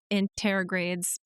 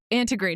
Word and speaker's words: antegrade: Through Mercury retrogrades and Mercury anterogrades. Oh, I was going to say just regular Mercury. Yeah. I think antegrade, not anterograde. I added a syllable.